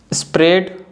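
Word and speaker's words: spread: The letter A इज not pronounced in the combination of EA। जो letter ए है अगर ई के बाद आता है तो ए को हम नहीं बोलते हैं, ए साइलेंट होता है।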